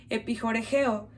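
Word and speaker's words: ἐπιχορηγέω: Esta palabra suministra en griego se pronuncia epijoregeo.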